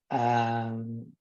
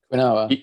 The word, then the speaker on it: quinoa: Quinine, are they called quinine? Quinoa. Quinoa. Quinoa, that's it. That's how you quinoa. pronounce it.